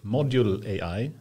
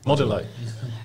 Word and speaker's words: Modulai: called, I'm not sure if I'm going to pronounce it correctly, Module AI. Or no, Modulai. Modulai.